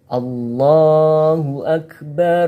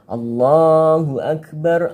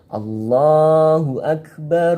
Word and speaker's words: Allahu Akbar: Bacanya Allahu Akbar, Allahu Akbar, Allahu Akbar. Seperti itu. Bukan Allahu Akbar, Allahu Akbar, Allahu Akbar. Salah. Saya ulangi yang betul. Allahu Akbar, Allahu Akbar, Allahu Akbar.